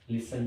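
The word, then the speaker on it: listen: time next one इज लिसन टू लिसन means सुनना किसी को इसमें लिखा हुआ य जो टी है यह बिल्कुल साइलेंट है इसका हम लोग उच्चारण नहीं करते हैं लिसन लिसन लिसन टू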